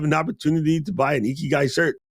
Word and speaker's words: ikigai: done an episode about ikigai did I say that right I'm always getting Iran no you actually said it right when people say icky guys I'm gonna punch him in the face probably like 50 on